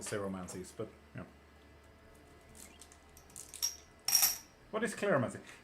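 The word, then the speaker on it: cleromancy: What is claromancy? Claromancy is spelled C-L-E-R-O. That's the one. Not clair. Not like clairvoyancy or claromancy or... No, what? Not clairvoyancy, clairsentience, clairgustance. Not like that. Claro as in C-L-E-R-O.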